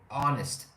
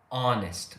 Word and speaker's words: honest: Okay, you say honest. No H. Don't say honest. You just say honest with no H.